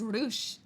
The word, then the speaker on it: Rutsch: Ruched. But also good night. Oh no. Basically, slide into the new year well. Thank you. Guten Nacht. Guten Nacht to you. Guten Rutsch. It is just Rutsch. Guten Rutsch.